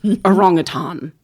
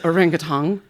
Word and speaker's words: orangutan: research until I heard the way you pronounced orangutan or he maybe said orangutang." And I was like, "Oh, cuz I say orangutang. I think every almost everyone says orangutang."